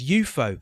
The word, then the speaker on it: UFO: And he was the organiser as well of a weekly psychedelic nightclub event in London, spelt UFO but pronounced as UFO.